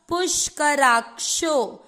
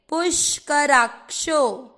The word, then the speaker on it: पुष्कराक्षो: आधा का पुष्कराक, और श से षटकोण पे ओ की मात्रा पुष्कराक्षो। श का उच्चारण तेज होगा क्योंकि यहाँ पर षटकोण वाला है, पुष्कराक्षो।